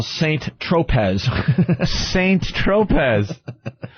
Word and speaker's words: Saint-Tropez: call saint-tropez is a st. tropas how do you say San Tropez San Tropez that's San Tropez I like st. Tropez is myself st.